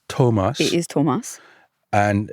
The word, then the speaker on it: Thomas: thinking oh no so it's not Thomas it's Tomas it is Tomas and it's hard o long o Tomas the two whole the CH family is really